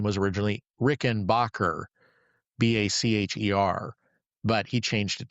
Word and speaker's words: Rickenbacker: He was of Swiss heritage, and his last name was originally Rickenbacker. Bacher, but he changed it to Backer and changed the pronunciation of it.